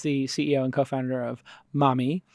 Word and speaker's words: Mahmee: CEO and co-founder of mommy which is spelled mah m ee comm if you want